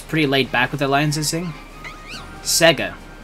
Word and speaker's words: Sega: back with the liing why are you saying it like that Sega Sega that's how you say it's Sega Sega it's literally how the jingle says it yeah but you